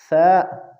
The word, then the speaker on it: ثا: تا ثا۔ ناظرین حضرات، یاد رکھنا چاہیے کہ ثا زبان کی نوک اور اوپر کے دانتوں کے کناروں کے ملنے سے ادا ہوتے ہیں، اس لیے اس کے تلفظ میں ذرا کوشش کرے۔ اور دوسری بات، بعض